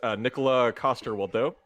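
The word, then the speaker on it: Nikolaj Coster-Waldau: I picked pronounce the I'm going to try to pronounce his name correctly, but it's Nicola Coster-Waldau.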